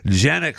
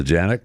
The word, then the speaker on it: Jannik: Congratulations to Jannik. And then Saturday. It's Yannick, but whatever. What is it? Yannick. But I think it's Yannick. I think that's how you pronounce his name.